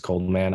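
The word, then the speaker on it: Coldxman: check out my music cold x-man but the x is silent just cold man on spotify on apple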